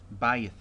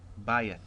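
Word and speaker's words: בַּיִת: And the next word, if you can see, there's the diphthong, and this is going to be a monosyllable word, Bayith, Bayith, house or household.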